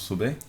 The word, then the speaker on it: Sobey: Sobey, comment on prononce Sobey?